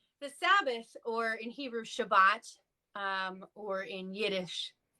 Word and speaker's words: Shabbat: So the Sabbath, or in Hebrew Shabbat, or in Yiddish Shabbos, which is also Hebrew if you're pronouncing it in the Ashkenazi pronunciation, Shabbos.